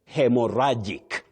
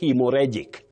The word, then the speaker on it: haemorrhagic: Well, you say hemoragic. Hemoragic. Don't say hemoric. Hemoragic. Common but wrong. Hemorraic. Ragic. Not reic.